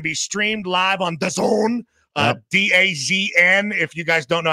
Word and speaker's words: DAZN: DAZN, if you guys don't know how to pronounce it.